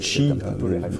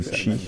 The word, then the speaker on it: Qi: du Qi ou du Chi, maintenant on parle plutôt du Qi, prononce plutôt de cette façon-là, justement il y a l'aspect médical.